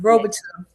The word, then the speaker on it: Robateau: It's you spell it. R-O-B. It's Robatau. Yeah. Robateau.